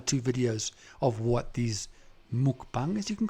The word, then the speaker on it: mukbang: eat but yeah my word yo jesus is pronounced mukbang it's so freaky but i do get hungry